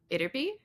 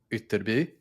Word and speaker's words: Ytterby: The "y" is this weird Germanic "y" sound that we don't use in English, but most of the other Germanic languages do, and there are four